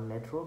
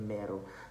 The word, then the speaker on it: Mero: That's a trick, not Metro, but Mero.